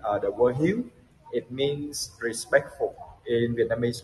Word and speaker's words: Hieu: The word Hieu, it means respectful in Vietnamese language. And yeah, Hieu is pronounced almost like huge, actually.